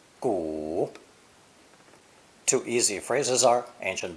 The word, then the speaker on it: 古: It's pronounced third tone, 古, 古. Two easy phrases are ancient books, 古书, and ancient people, 古人.